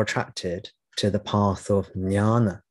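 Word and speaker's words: jnana: I was more attracted to the path of nyana nyana which is spelled j n-a-n-a sometimes people pronounce it Guiana which is an alternative pronunciation the part of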